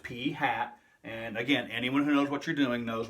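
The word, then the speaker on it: p̂ (P hat): represent the sample proportion is P hat it's pronounced P hat and again anyone who knows what you're doing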